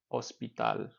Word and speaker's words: hospital: just a reminder to H is silent in Spanish so it's Al is El ospital once again we are